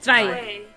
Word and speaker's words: Zwei: Hey guys, welcome to Panzer Dragoon II Zwei? Is that how you pronounce it? I don't care. It's Zwei. I'm trying to roll. There is no R, and yet I'm trying to roll it.